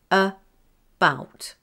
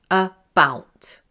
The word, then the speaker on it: about: About. About. Copy me and say it out loud. About. About. Did you notice that I pronounced the A as the schwa sound, a?